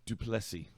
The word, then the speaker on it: Plessis: He taught me how to say his last name. He said, just say 2 plus 3 really fast. 2 plus 3? Plessis. Plessis.